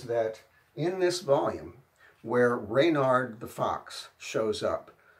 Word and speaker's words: Reynard: There is one little piece of evidence, of objective evidence, and that is that in this volume, where Reynard the Fox shows up, it's spelled here R-E-Y-N-A-R-D, R-E-Y-N-A-R-D, Reynard, which is probably a phonetic spelling.